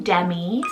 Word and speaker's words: Demi: light for number 28 i have the name demi salt d-e-m-i demi it's a latin rooted meaning